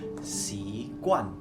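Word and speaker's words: 习惯: Jadi habit di Mandarin itu bacanya si kuan.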